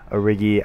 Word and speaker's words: Origi: going their direction, and Origi, I believe, is actually how you pronounce his name. I always want to say Origi, but it's just not Origi.